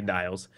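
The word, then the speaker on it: Niels: with their 15-year-old son now it's spelled n i e LS so it has to be Niles and his 12-year-old girlfriend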